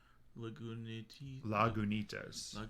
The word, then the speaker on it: Lagunitas: How do you pronounce that first word there? Lagunitas.